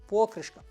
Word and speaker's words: покришка: покришка А може зовсім покришка правильно ставити наголос на о покришка від автомобілістів ми часто